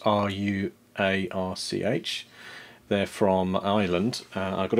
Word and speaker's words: Ruarch: It's from a company called Ruarch, I think that's how it's pronounced, R-U-A-R-C-H.